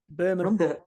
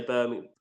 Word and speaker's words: Birmingham: Birmingham. I get a lot of shit for this, the way I say Birmingham. Apparently, you've got to pronounce the G.